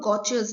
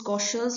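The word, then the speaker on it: Gaucher: staining moving forward to goa's disase disase okay so again it can be pronounced as goes or goas disease so over here uh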